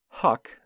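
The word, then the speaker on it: Huq: and again from vice it says huck which is spelled h-u-q an established data vendor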